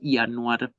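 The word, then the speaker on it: ינואר: Por ejemplo, enero se dice Yanuar y se escribe de esta manera.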